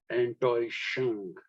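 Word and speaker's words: Enttäuschung: actually shung it's neither nor is it it's pronounced in between as antoi shang now what is antoishung antoi is oh god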